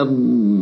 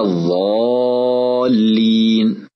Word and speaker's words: الضالين: ومن صور الخطأ نطق الضاد ضاء، كأن يقول ولا الضالين، أو نطقها دالا، كأن يقول ولا الدالين، أو نطقها طاء، كأن يقول ولا الطالين. والصواب أن ننطق الضاد مفخمة بها صفة الاستطالة، هكذا ولا الضالين.